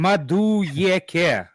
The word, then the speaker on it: Madueke: It's Like Madueke. That's how you say it.